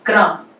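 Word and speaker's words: क्रम: and then this one is kram. So we are saying ka and then ra and ma, okay?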